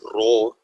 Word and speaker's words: rho: And then this is known as rho. It's like a P, but it's actually pronounced rho.